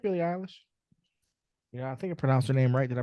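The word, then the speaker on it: Billie Eilish: from that yeah yeah I mean I like Billy Alish you I think I pronounced her name right did I pronounce her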